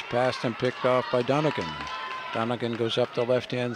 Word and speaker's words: Donegan: Jorgensen into Donegan. I believe that's how she pronounces her name, because although it begins with a D, it's spelled much like Mulligan.